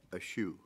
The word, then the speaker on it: Ashu: Secretary Ashu, is that correct? Yes, sir. Rhymes with cashew, if you like cashew.